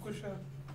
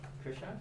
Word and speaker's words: Kushal: Kushal. Krisha? No, Kushal. Kushal.